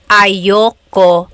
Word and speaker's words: ayaw ko: Usually it's pronounced ayoko siya. So if you want to sound a little bit more natural, you put everything together, ayoko siya. Ayaw ko siya is ayoko siya.